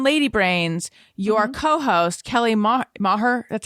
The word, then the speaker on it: Maher: this okay on lady brains your co-host kelly maher that's how you say it right yes she